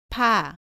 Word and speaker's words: 파: 발음은 바와 비슷하지만 공기를 더 많이 내어서 발음합니다. 따라해 보세요. 파, 파.